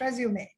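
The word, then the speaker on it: résumé: know is a resume that e is pronounced like a french e it's not resume it's resume so cv is a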